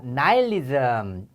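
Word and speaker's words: nihilism: 자 나일리즘 발음이 나일리즘이에요.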